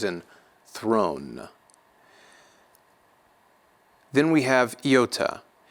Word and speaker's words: iota: Iota has two different pronunciations, a short and a long in the Erasmian pronunciation, like the I's in idiom, the first one being short and the second one being long. Idiom, idiom. Kappa is going to be